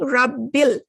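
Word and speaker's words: رب ال: this little sign here al hamdu see how you're pronouncing it because it's in the beginning but here you're not pronouncing it you're saying rabbil you're skipping the hamzatu wassel because it's in the middle this is a hamza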